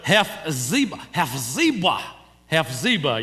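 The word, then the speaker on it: Hephzibah: I don't know how many of you can pronounce that, but Hes Ziba.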